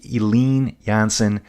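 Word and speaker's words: Eline Jansen: Jansen, that's going to be Eileen Jansen. Her name is spelled E-L-I-N-E.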